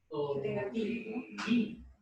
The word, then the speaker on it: Toberín: Toberín. El acento está en la I.